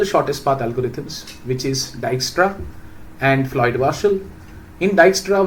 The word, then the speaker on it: Dijkstra: Uh so it's pronounced as dystra d i j k uh d i j k s t r a and uh this is called as flo.